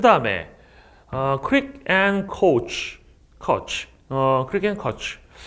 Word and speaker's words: Koch: 그 다음에 crick and coach crick and coach 이 원래 그 KOCH라고 하면 아마 독일 사람일 것 같은데 그러면 원래 이름이 코흐예요. 코흐. CH 발음이 크 발음나니까 코흐일 겁니다.